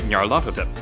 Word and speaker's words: Nyarlathotep: hard to say, so I'll just anglicize the hell out of it and say Nyarlathotep. That way it reflects some of the Egyptian origin of the name, since Hotep is an Egyptian word meaning to be at peace.